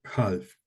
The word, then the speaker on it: half: That one is, yeah, that one's a silent L.